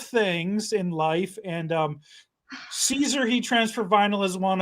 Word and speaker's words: Siser: to say it right so it is Caesar like the salad so that answers the